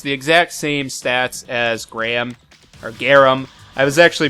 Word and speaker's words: Garam: I was younger, and I never realized that there was an A in between the first R and A.